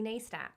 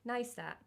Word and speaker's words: Neistat: so i picked casey neistat i'm sorry i thought that's how you said his name what how do you say his name casey neistat no nei nice nice nice set casey nice that sounds like